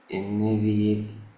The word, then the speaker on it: initiative: انيشي، بص، التي اي بتنطق شيء. انيشيتيف، initiative. مش انيفيتيف.